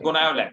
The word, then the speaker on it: Gonyaulax: Yes, That is sir, Goniolax. blur. GonyauLax, and you will pronunciate it Goniolax.